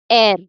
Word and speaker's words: heir: So h e i r it is pronounced as air. So an air because again the first word it doesn't sound like the h is the h is not pronounced.